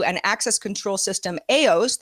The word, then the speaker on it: AEOS: Now, last month, BioStar 2 and access control system AOS, that's spelled AEOS, AOS is used by 5,700 organizations in 83 countries, big company.